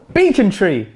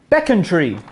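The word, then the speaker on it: Becontree: square we're doing this some people call this beacon tree when actually it's beckon tree so a local area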